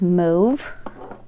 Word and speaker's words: mauve: accurate or i guess depending on the country you're from or you may pronounce it as move okay and then next